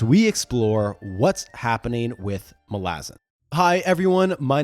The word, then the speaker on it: Malazan: Now, if you hear most people talk about Malazan, yes, that's pronounced Malazan by Erikson himself.